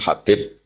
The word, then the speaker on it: Habib: Ada yang nulis Abi Abdurrahman Habib Asulami. Itu di harakatnya kitab itu ada yang nulis khubab yang benar. Oh, nggih. Yang benar itu bacanya habib.